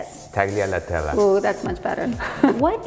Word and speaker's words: Taglialatella: Taglialatella. That was fantastic. Okay, so you say it nicer. You say it. Taglialatella.